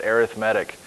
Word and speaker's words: arithmetic: put it with sequences we have to pronounce a little bit differently we pronounce it arithmetic arithmetic sequences so in this section